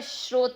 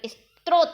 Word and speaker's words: स्रोत: अगर हम शुद्ध उच्चारण करें तो स्रोत ये है, ये तो स्त्रोत है, लेकिन चलन के कारण ये है।